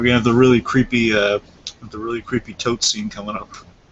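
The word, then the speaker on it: Toht: We're gonna have the really creepy tote scene coming up. I think it's pronounced Tot. Oh, Tot? I'm pretty sure.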